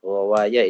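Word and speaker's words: غواية: kandangnya bilijamiha dengan kekangnya wal ghawaya bifathil ghain ghawaya itu dibacanya ginnya difathahkan wafi hadal baiti maka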